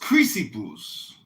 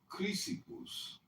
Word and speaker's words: Chrysippus: And then later It's pronounced Chrysippus. Chrysippus.